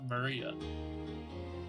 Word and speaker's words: Maria: is written like that of course that is pronounced Maria third character looks like her cross which is